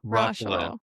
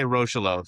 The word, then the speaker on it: Rocheleau: Roshel. Okay. I was I wanted to say Roshelo, so I'm not I wasn't too far off.